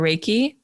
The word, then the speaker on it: Reiki: Reiki or Reiki?